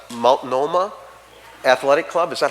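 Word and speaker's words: Multnomah: a it's a tough word for me to pronounce maloma Athletic Club is that how you say it in in Portland the Mount Mount Noma that's the one the Athletic Club I've made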